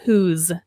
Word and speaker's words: whose: So here, this word, this S-E has a Z sound, whose.